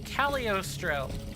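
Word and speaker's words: Cagliostro: look at it again c a g l i o s t r o calostro the G is almost s silent almost it's like um it's like saying Lee Le in Italian it's a it's like a an and it's like a start to a word um in Italian and that g is kind of like the G in baloney you you almost don't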